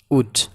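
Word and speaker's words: would: এল উচ্চারিত হবে না, উড। উডের এল উচ্চারিত হবে না, কুড।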